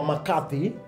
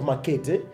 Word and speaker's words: McCarthy: Tunasema McCarthy, not Makete, whatever it is, confirm.